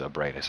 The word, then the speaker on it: Ebriatus: I think someone said that it's been officially pronounced as Ebriatus on like a stream or in an interview or something.